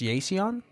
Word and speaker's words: Yeiseon: so we have uh it's is it it's pronounced yon yeah I'm surprised you actually got that one